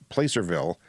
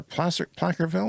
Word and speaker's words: Placerville: stopped to charge in Placerville, or Placerville or Placerville. It seems like I've heard it pronounced two ways.